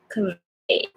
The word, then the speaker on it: Covey: So it's not B. B. It's V. V. You should feel some vibration in your upper teeth and the lower teeth, lower lip.